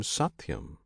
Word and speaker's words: Satyam: This name Satyam consists of 3 syllables: Sat, Ti, Yam.